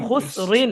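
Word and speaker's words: خسر: র দুজের হুসরিন, রিন, খুস রিন। র হুসরিন, দুই জের রিন হুসরিন, খুসরিন হ্যাঁ হ্যাঁ, ওয়াকফ করলে এখানে খুসর হবে, খুসর এরকম হবে উচ্চারণটা।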